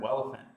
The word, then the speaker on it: Welephant: You can find that by going to GitHub and searching the term Welephant. That's spelled like an elephant with a W at the beginning.